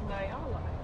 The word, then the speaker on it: Nyala: Yeah, it's pronounced Nyala.